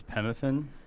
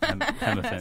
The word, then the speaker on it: P. Muffin: It's Pemmuffin. Okay. Pemmuffin. Okay, because it is spelled P. Muffin. No, I mean it's Pemmuffin.